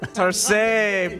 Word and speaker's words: Tarsem: do you say that he said Hitler stain tar same time same now listen people know you from